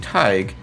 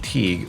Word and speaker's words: Tig: my former classmate, Traci Tig, who I was pronouncing her name Teague, which was wrong. It is Tig.